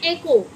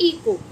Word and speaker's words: echo: इसको आप क्या पढ़ेंगे, इसको आप क्या प्रोनाउंसिएशन होगी इसकी, इसको बोलते हैं एको। क्या बोलते हैं, एको या फिर इको।